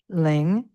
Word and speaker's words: ling: Ling, L-I-N-G, ling. Pa. So that's all normal, the normal way we would pronounce it in English.